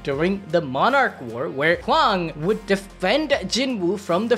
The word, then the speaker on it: Hwan: Okay, I saw some comments in the last video where Yusuf pronounced his name like Hwan, like J-U-A-N, like, bro, it's H-W-A-N, how are you supposed to pronounce it? It's Hwan.